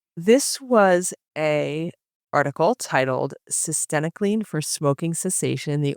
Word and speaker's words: cytisinicline: About if anyone wonders how to pronounce it, it rhymes with verenacle. This was a article titled Cyenocan for smoking sessation.